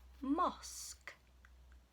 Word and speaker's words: mosque: Mosque. Can you hear the k at the end?